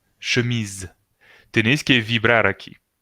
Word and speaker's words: chemise: Porque está entre dos vocales, I y E. ¿Ok? I, E, dos vocales. La S se pronuncia Z, porque está sola. Si fuera doble S, se pronunciaría S, pero aquí está sola.